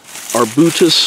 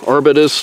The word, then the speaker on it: Arbutus: Call it trailing Arbutus or Arbutus, depending on who's pronouncing it.